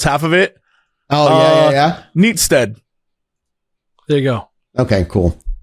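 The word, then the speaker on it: Neatishead: I'm looking at it right now. Neat as head, and then it says pronounced Neatstead.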